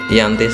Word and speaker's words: Giyanti: Nama Giyanti diambil dari lokasi penandatanganan perjanjian, yakni di Desa Janti. Pada pelafalan Belanda disebut Yanti, secara tertulis menjadi Giyanti.